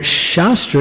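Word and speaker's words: शस्त्र: Shastra and shastra. They're spelled the same, but the emphasis is different. So shastra is scripture.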